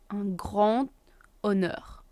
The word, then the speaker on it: un grand honneur: Un grand honneur. We do the liaison between the D and the H because H is silent, so un grand honneur.